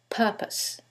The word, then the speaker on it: purpose: syllable that's stressed, and in the second one, it's the first syllable, and that changes the pronunciation completely. The first word is propose, and the second word is purpose.